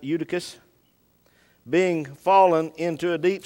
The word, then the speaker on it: Eutychus: certain young man named eudivis eutychus that way you pronounce it eutychus being fallen into a